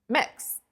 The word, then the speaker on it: Mx: it out, and then wrote MX, pronounced, and then in parentheses, pronounced mix. So mixture is the abbreviation, MX.